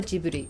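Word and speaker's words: ジブリ: II Italian airplane however the Studio itself is spelled with the soft G that's the J sound with the Katakana spelling reading suio jiburi so I'm sorry but they chose the jit sound not the gut sound to spell ji and I am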